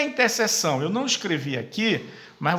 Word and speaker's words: intersecção: Aqui se escreve intersecção, mas você acaba lendo interseção.